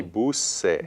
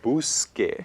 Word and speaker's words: busque: just add an E, it would sound rather would sound strange. funny. It would be busse. Busse. And I want that k sound. You want busque. Just like I hear it in buscar, busque.